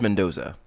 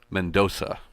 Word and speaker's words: Mendonça: with yeah like so that is pronounced Mendoza Mendoza like men don't go no I like the